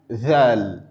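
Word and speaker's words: ذال: Ensuite, nous avons da pour dal da dal dal puis zal c'est comme la lettre Z du français.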